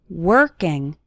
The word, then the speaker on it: working: working on your English the letter O in working has more of an her sound working working on your English